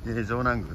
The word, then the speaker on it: 城南宮: たいと思います城南宮はですね城の南のグーと書いてですね宮と書いてですね城南区と言いますけどね文字通り